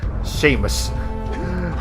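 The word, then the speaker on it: Samos: Seamus is pronounced Seamus. Okay. That's I checked anyways.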